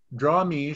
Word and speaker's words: Drawmij: and Dragons game The Dungeons and Dragons character draw me was named after him draam me is simply Jim Ward spelled backwards am I pronouncing your name backwards correctly Jim I don't